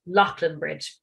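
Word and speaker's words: Leighlinbridge: And it's not far from this town, which is pronounced, believe it or not, Loughlin Bridge, not the way it looks at all.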